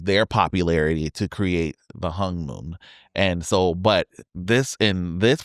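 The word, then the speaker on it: Honmoon: Well, it's spelled HON, but the O makes a U in Korean.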